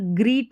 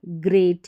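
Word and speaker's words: great: तो यहाँ पर ग्रीट नहीं है, यहाँ पर ग्रेट है, क्या है ग्रेट। जी आर को ग्र और ई ए को ए और टी का उच्चारण ट, ग्रेट।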